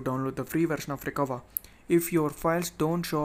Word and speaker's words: Recuva: It's pronounced Recuva, okay?